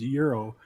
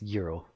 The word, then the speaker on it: gyro: a gyro mm-hmm but no it's from Greek it's euro but a wise I'm